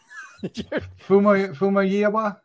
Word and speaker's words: Famuyiwa: Famuyiwa.